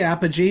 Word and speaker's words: Apogee: So, you are the CEO and founder of, is it pronounced Apogee Results? Usually Apogee, but we've got unfortunately sometimes it's Apogee, and